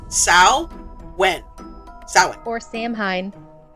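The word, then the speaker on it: Samhain: Next time on the Pandemonium Witches, it is not pronounced Sam Hayne or Samhane. It's pronounced Sao when sin or Sam Hine like some shows we know.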